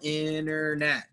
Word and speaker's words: internet: International internet. I know it looks funny, but try to say it like there's no T.